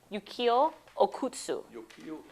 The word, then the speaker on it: Okutsu: is named after how you say his name yuk okutsu he received the Medal of Honor when um